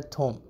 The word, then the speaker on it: ثوم: اسی طرح لہسن، اس کو کہا جاتا ہے، لکھا تو میں نے ثوم ہے، بولا جاتا ہے تھوم.